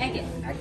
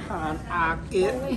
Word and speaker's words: Agit: Agit.